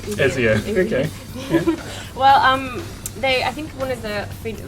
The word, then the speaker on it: Ezio: Is that how you pronounce it? Yeah. Ezio? Ezio.